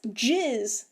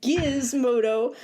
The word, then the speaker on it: Gizmodo: they're like, no, that's Jizz. And I'm like, what the fuck? They're like Gizmodo. I'm like, no, that is a hard G. It is always Gizmodo.